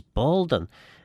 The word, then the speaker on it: Boaldyn: The Manx form is Boaldyn, which is pronounced exactly like the Boaldyn Manx version of the name Baldwin.